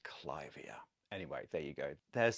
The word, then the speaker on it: Clivia: Anyway, named after Lady Clive, it should be pronounced Clivia.